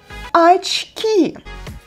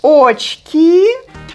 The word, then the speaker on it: очки: In Russian, they are called очки. Очки. It's a short word, it's not that difficult for pronunciation. Just don't forget that unstressed O represents A sound. So that's why we write очки, but we pronounce it like очки.